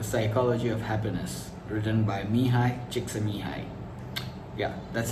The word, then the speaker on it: Mihaly Csikszentmihalyi: is flow the psychology of happiness written by mihai chiksumi high yeah that's how it's pronounced today's episode is special we have a